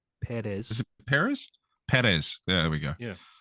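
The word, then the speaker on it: Pérez: do you say that name there it is Paris Perez there we go yeah I'm very white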